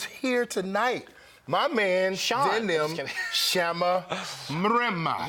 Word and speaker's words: Mrema: My man, Shama, Mrema. Yeah. Did I say it right? You did. You rolled that R.